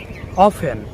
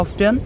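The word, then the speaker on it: often: যেমন সফেন, নট সফটেন, অফেন, নট অফটেন। আচ্ছা, এখানে একটা কথা আছে, নট অফটেন না, অফটেনও হবে, অর্থাৎ এখানে অফেন এবং অফটেন দুটোর উচ্চারণই ঠিক।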